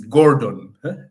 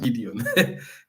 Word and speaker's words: Gordon: It is Gordon, not Gideon.